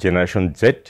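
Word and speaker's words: Generation Z: আর 1997 থেকে 2012 মধ্যে যাদের জন্ম তারা হচ্ছে জেনারেশন জেড, যেটা আমরা উচ্চারণ করি জেনারেশন জি।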